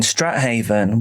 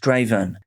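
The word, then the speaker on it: Strathaven: Phoenix Spencer Horn grew up in Strat Haven, which I've seen is actually pronounced Straven.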